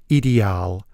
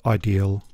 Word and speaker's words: Ideal: and in deuts land the company name is pronounced idal but despite many lessons and effort I don't spaken deuts so I'll stick with ideal I should have got a closeup of the